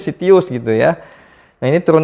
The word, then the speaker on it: Citius: Abstrak tapi ternyata bisa dibacanya Sitius gitu ya.